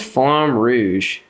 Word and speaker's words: Flamme Rouge: Kenny, why is Flamme Rouge on the list? Am I pronouncing that right?